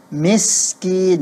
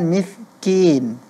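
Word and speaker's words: مسكين: saat membaca kata miskin kedengarannya pelafalan huruf Sin pada kata miskin kuranglah tepat ya karena tidak terdengarnya thesis padahal huruf Sin itu termasuk memiliki desis dia safir Ya thesis miskin bukan miskin ya Ini catatan untuk Saudari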